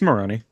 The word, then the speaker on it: Moroni: I think her last name is Moroni. I'm not I don't I'm going to pronounce it wrong because I read words but I can't say that. It's Moroni.